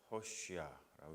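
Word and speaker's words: Hoshea: 하는 의미를 가지고 있죠 허쉬야라고 영어로는 발음을 하는데 호세아는 구원자라고 하는 뜻입니다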